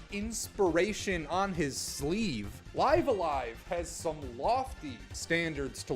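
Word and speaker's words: Live A Live: Live alive. And yes, that is how I will be pronouncing it for the duration of this video. And if you don't like that, then I don't like you, my friend.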